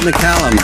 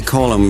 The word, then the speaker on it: McCallum: David McCallum, yes. Did I get your name wrong again? Well, everybody calls me Callum, like McCall's magazine, but it is in fact McCallum.